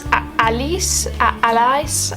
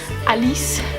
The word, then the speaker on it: Alÿs: My third artist is, I think it's pronounced Francis Alÿs, A-L-Y, but there's 2 dots on it and an S.